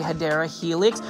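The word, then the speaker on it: Hedera helix: many times I say hadera Helix which is the correct way to say it or English ivy this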